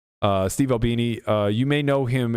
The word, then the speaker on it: Albini: Al yeah thank you I didn't want to mispronounce uh Steve Albini uh you may know him as one of